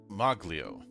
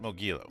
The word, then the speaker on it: Moglio: Moglio, huh? Or is it Mogilo? That's Nope, Moglio. That's how you say it.